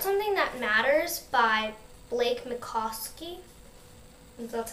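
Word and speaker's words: Mycoskie: I got start Something That Matters by Blake MOSI that's how you you say his name and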